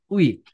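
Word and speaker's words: 의: यसको मतलब के हो भन्नुहुन्छ भने मेन कुरा त शब्दको अगाडि आउँदा यो उइको उच्चारण उइ नै हुन्छ भनेर बुझ्नु होला।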